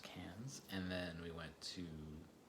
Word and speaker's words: Cairns: So for our first trip, our first 2 weeks off, we went to Cairns, or Cairns if you're in North America, but it's pronounced Cairns.